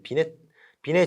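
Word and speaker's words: Binet: 그래서 이제 비례 지능 검사인데요. 이게 T가 묵음이죠. 이제 프랑스어라서.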